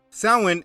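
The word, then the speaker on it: Samhain: cursed and threatened now the word doesn't look how it's pronounced Salman is a knight celebrating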